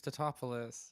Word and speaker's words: Tatopoulos: can say his name has to go it's Tatopoulos yeah he's like a bit of a weenie